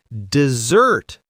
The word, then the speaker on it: dessert: And one of my favorites, dessert. Double s because we all want more sugar. Cake. Dessert.